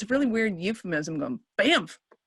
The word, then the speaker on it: Banff: oh okay they were things like bamf those people that don't get it i always tell them they have to pronounce both the apps keep saying it it's